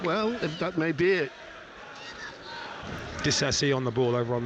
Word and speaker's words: Disasi: said he wants to, his name is Disasi, not Disasi. So that's why I've been calling him that. But apparently in the Premier League pronunciation guide, he calls himself Disasi.